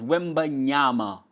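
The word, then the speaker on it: Wembanyama: Wy Wy Victor wmi that boy's name is wimba nyama it's an African name understand it pronounce it right and realize he comes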